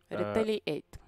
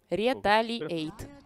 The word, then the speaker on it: Retaliate: Правильно произносить? Ретейлиэйт. Ретейлиэйт. Ретейлиэйт. Давайте это по буквам. Ретейлиэйт.